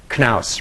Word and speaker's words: Knaus: psyched that you actually pronounce your name knaus rather than mouse like our our vice